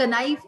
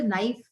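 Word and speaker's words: knife: तो B silent नाइफ के silent क नाइफ ऐसा नहीं बोलते नाइफ के साइलेंट वॉक वाल्क ऐसा नहीं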